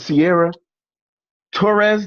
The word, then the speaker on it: Sierra Torres: So tonight we have a special guest, and her name is Sierra Torres. Did I pronounce that correctly?